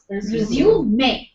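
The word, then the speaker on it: résumé: in that context so with the pronunciation of this word resuming it changes with the context when you say resume your duties after the B break the spelling Remains the Same but the pronunciation becomes different m in Oxford Advanced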